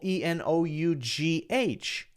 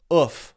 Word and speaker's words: enough: So for example, E-N-O-U-G-H, enough. That nuff is not pronounced in the same way that H-O-U-S-E is pronounced. That's O-U-O-U. But H-O-U-S-E is pronounced house, and E-N-O-U-G-H is pronounced oof, enough.